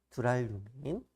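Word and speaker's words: 두랄루민: 발음할 때 주의하셔야 돼요. 두랄류민.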